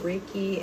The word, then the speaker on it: Reiki: talk about also is um you do uh raiki. Yes. That's that how you pronounce it. Reiki.